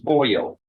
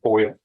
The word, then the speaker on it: Boyle: Both styled the state of Texas versus Rebecca Boyle. Am I pronouncing it correctly? Like aluminum foil, Yes. but it's FOYIL.